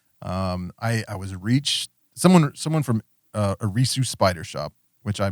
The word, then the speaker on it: Eresus: So it sounds like a Reese's cup, like that. But so say it one more time. Eresus.